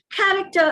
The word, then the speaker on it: character: on the right syllable character is accented on the first syllable character if you accent